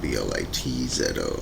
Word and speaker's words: Blitzo: and stuff, it's spelled B-L-I-T-Z-O, and it both kind of pronounces Blitzo anyway, so we'll just call it Blitzo.